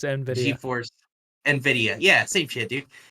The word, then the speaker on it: Nvidia: TI Alan can we just appreciate how he pronounced that just now NV d i it's it's Nvidia gForce Nvidia yeah same dude